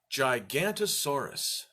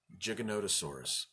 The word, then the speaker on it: Giganotosaurus: O that changes everything longest time I pronounced it gigantasaurus gigantasaurus and then someone pointed out to me wait mr. Mike there's an O in the middle of that which changes it from gigantasaurus to Giganotosaurus so today's animal is